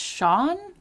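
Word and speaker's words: Shaughn: people's usernames are always so great and it's Sean s-h-a-u-g-h-n that's a lot of letters what essay s-a-j-u-g-h-n is that's pronounced Sean well how else would you pronounce it well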